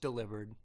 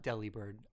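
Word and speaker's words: Delibird: three yeah it's pronounced delivered not Deli bird okay it's a it's a play on the word delivered with bird in it don't let four kids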